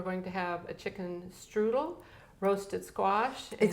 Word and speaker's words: Strudel: menu, we are going to have a chicken strudel, roasted squash, Excuse me. I just remember I just remember yesterday I told you something about the pronunciation. It's strudel. Chicken strudel.